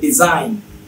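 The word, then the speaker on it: design: Raisin না হয় ডিজাইন, জিটা দেখেন সাইলেন্ট আছে।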